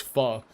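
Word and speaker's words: Phở: the new apartment's also walking distance from a pho place. Let's go. Yeah, the second thing, it's pronounced pho.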